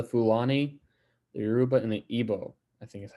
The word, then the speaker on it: Igbo: Some of the more notable ones being the Hausa, the Fulani, the Yoruba, and the Igbo. I think is how you say that. I think the G is silent.